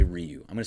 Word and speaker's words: Ryu: It's closer to an L than an R. Ha. So it's Hyunjin Liu. But no, I'm going to say Ryu.